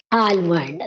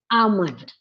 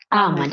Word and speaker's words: almond: do you say almond almond that is the wrong pronunciation in which we have to drop the sound of l l is silent in it is amond am amond it is not almond